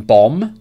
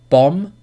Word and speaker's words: bomb: The B in bomb is silent. The H in ghost is silent. And the L in F is silent. So listen closely. Bomb, ghost, half.